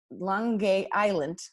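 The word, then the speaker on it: Lange Eylandt: necessarily in that accent Leung GAE Island was the name that the Dutch gave it and it has a hard G in it and linguists really can't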